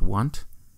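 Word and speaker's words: Onett: Because everyone calls it Onnit, but the next three towns in the game are Tucson, Threed, and Foreside. So if Onnit begins this number-based naming scheme, shouldn't it actually be pronounced Want? I think that's right. No, I'm definitely right.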